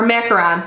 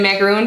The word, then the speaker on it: macaron: sounds so good or macaron sorry I always mispronounce macaron um and say macaroon just because those two